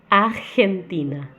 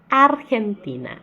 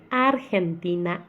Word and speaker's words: Argentina: Uma coisa que é importante dizer que o R nunca sai da garganta, então a gente não vai ter ar Argentina. Tá errado. O R ele é feito com a língua. Então a gente vai ter Argentina. Argentina irmana, nunca com a garganta.